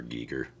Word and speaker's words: Giger: Funny enough, most of mine is on H E Giger. Is that how you pronounce it, Brian? Or is it Ger? HR Giger.